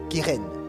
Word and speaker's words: keren: Keren, s'écrit K e r e n. Kéren, keren veut dire pouvoir, ça veut dire puissance.